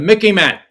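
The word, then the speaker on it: MICIMATT: can present my acronym the mickey man remind sort of rhymes with the mickey mouse m-i-c-m-a-t-t it's the military industrial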